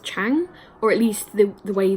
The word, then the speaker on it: Zhang: on the screen here, it's spelled like Zhang, but it's pronounced like Chang, or at least the way the narrator on the audiobook is pronouncing it, that's how it sounds.